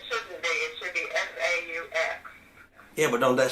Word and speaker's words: faux: It's pronounced faux.